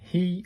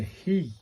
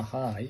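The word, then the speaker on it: ひ: H I pronounced like the H E in he or she. So, it's a he, not a high, it's a he.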